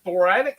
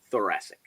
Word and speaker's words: thoracic: and the young bucks after uh was a thoratic how do you how do you say that john the county thoratic thoracic thoracic inspiration thoracic express uh to retain the